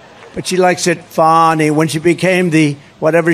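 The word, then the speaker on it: Fani: about fonny Willis right is anybody fonny it's pronounced fonnie F A ni I that's Fanny but she likes it fonny when she became the whatever she became da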